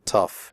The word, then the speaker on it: tough: The O-U-G-H in tough is pronounced uff, like in stuff.